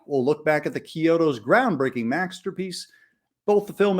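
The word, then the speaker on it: Chiodo: are Stephen Charles and Edward Kyoto not chioto as is often mispronounced also known as The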